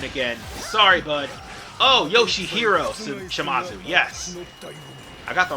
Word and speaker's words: Shimazu: Specifically, Yoshimazu's, God damn it, it's Shimazu, yes, Yoshihizo's, god damn it, why did I mispronounce that guy?